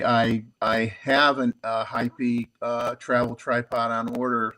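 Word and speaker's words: Heipi: probably pronounce it wrong High p h e i p i and that that is correct actually I I have a hypey uh travel tripod on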